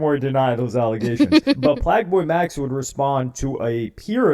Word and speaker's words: PlaqueBoyMax: Y'all, Playboi Max, Plaqueboy Max, I'm sorry. I keep saying it wrong.